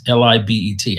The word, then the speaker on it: Libet: And it's based on an experiment that was done in the 1980s by a guy named Benjamin Libet, Libet. I think that's how you pronounce his name, Benjamin Libet.